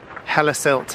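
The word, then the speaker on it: Hellesylt: rinsed too bad but the Google said hel silt h e l e s y l t so this is basically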